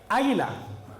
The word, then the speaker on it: águila: Okay, águila. Águila is the pronunciation. What do you think is the? I don't think la águila will sound. Okay. Yeah. So we just go with L. El águila.